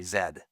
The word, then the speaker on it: Z: Z is the way that Americans say zed, in case you're wondering. I I grew up saying zed, but you say z and um and uh